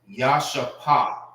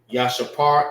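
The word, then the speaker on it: ישפה: Yashapar is how you say Jasper in the Hebrew.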